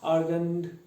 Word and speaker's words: Argand: it as the r we have different pronunciations so we say argon argon argon argone something like that okay all right argand plane now what happens in this